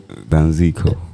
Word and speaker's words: Danziko: Waiting me the proper pronunciation. Danziko.